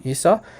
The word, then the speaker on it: Esau: Esau uh you know just Standard English pronunciation isau um and this is